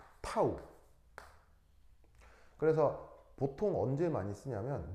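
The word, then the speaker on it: τ: 요 D라고 그다음에 이제 여기 보시면 묘한 표시가 있는데 이렇게 쓰는 알파벳 기호인데 그리스 알파벳입니다. 발음은 타우.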